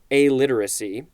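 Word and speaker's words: aliteracy: this is a literacy I had said it wrong before it is literally pronounced a literacy not illiteracy which I believe starts with an eye and we'll get to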